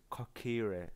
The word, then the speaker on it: Kokiri: Kokiri, as it's pronounced, live here with me.